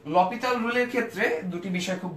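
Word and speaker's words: L'Hôpital: সো এটাকে আমরা কি এল হসপিটালস রুল অথবা লা হসপিটালস রুল বলে থাকে আসলে কিন্তু সেটা সঠিক উচ্চারণ না এর উচ্চারণ হচ্ছে ল পিতাল রুল আচ্ছা ফ্রেঞ্চ উচ্চারণ এরকম সো এখানে হয় আমরা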